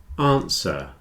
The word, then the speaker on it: answer: listen Castle whistle listen answer and sword have no W answer